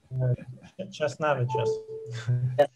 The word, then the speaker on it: Česnavičius: I should know how to pronounce correctly the family name of the speaker. This is the question to speak. Česnavičius.